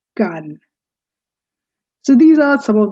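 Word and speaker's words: Cannes: and please from now on at least never pronounce it as ganus it's gun so these are some of the main major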